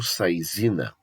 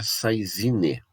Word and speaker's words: saisine: princípio de saisine ou sair zina a pronúncia correta original é saisine mendo francesco a pronúncia seria seus na região mas do português foi transformado para sair zina princípio então esse aqui